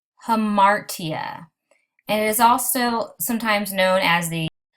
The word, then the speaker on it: hamartia: The first one is pronounced hamartia, and it is also sometimes known as the tragic flaw.